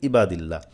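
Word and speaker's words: عباد الله: আমরা বলি কি ইবাদিল্লাহ ইবাদিল্লাহ বললে তো হামজা হয়ে যাবে হামজা জের ই বা জবর বা এখন বলেন আপনিই বলেন আইনের জায়গায় যদি আমি হামজা বলি তাহলে কিন্তু আমার পড়া সহি হবে কখনোই সহি হবে না এজন্য আইন আইবা আইবা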